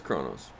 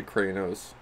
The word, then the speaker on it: Kronos: kronos so it was kronos okay well i hope i didn't say it wrong i said i think i say cranos yeah yeah but yeah